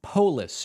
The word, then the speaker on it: Polis: David loved the show letting you know it's pronounced polis Jared Polis in Colorado thank you I appreciate